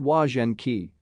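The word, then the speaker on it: Łazienki: choice for families and couples on the weekend pronounced wagen ki this beautiful park includes manicures gardens an ornamental lake wooded glades and strutting peacocks when it comes to city parks lazy inky is truly a gem escape the stress of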